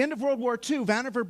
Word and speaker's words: Vannevar: of World War Two Vannevar bush or van eevr I found out is how you say it Vannevar bush wrote this